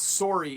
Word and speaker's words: sorry: When we pronounce sorry, it actually rhymes a little bit with the word sore. The other day I was walking and I twisted my ankle and now my ankle is sore. So the word sore and the word sorry have the same O sound when we pronounce them in Canadian English.